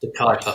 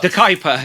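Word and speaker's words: De Kuyper: The Kuiper. The Kuiper.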